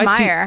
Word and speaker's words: Mayer: So my middle name now is my old last name, my maiden name, which is Mayer, M A Y E R. But you know, I guess in German, it's pronounced Meyer.